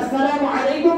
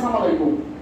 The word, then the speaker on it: আসসালামু আলাইকুম: দ্বিতীয় নম্বর হলো যে আমরা সালাম দেই কিন্তু সালামে সঠিক উচ্চারণের মাধ্যমে আমরা সালাম দিই না। যেমন আমাদের দেশের অধিকাংশ মুরব্বী এরা কি দাঁত না থাকার কারণে নাকি এমনিতেই সালাম দেয় সালামালাইকুম সালামালাইকুম, গ্রামের শিক্ষা দেবেন সালামালাইকুম, এভাবেই সালাম করে সালামালাইকুম।